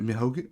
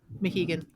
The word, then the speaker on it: Mohegan: The next one looks like, was it Mihogan? What is it? The new. Sorry, you're muted. Who, me? Yeah, Mohegan. Mohegan. I knew I was getting that first syllable wrong.